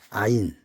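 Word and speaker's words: עין: 아인 아인 발음은 아인 상형 그림은 이거를 눈이라고 합니다.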